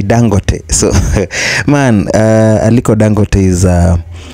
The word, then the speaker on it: Dangote: that is Alo dangote you know we call it dangote from our end here in Kenya but they pronounce it differently so they always say dangote so man alang is